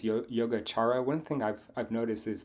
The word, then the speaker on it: Yogācāra: One thing I've noticed is that like the way that people pronounce any vowel that comes after a C, they always put an It's H in there. So it's like chara.